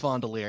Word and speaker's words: Fondler: fondler hey guys fondalier spell fondler pronounced fondolier it's the story of